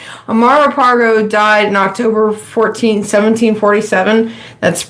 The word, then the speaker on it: Amaro Pargo: But Amaro, I keep wanting to say Amaro Pargo. It rhymes so easy. Amaro Pargo died in October 1747.